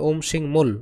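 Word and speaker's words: 음식물: মূল ছুরেগি খাবারের আবর্জনা এর উচ্চারণ হবে ওমসিং মূল এগিয়ে উচ্চারণ হবে অং তাহলে কি দাঁড়ায় ওমসিং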